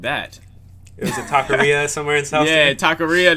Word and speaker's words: taqueria: you say it uh it's like a taquera to to like the taco spot oh taqueria taqueria there you go there you go um